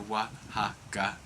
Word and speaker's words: Wahaca: So we spell it phonetically, so it's Wahaca, so Wahaca. But Yep. obviously the pronunciation is exactly the same, and it's named after the state in Mexico.